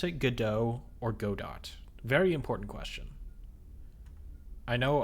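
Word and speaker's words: Godot: do D do DOT because their logo looks like a robot and robot kind of rhymes with go dot but I know that's somewhat of an unpopular opinion.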